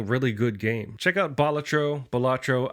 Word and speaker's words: Balatro: I don't think there's any wrong or right way to say it. I was going off of Wikipedia's pronunciation, or Balatro. Which is apparently that's the ancient Roman term for I guess Latin term for like a joker or a fool.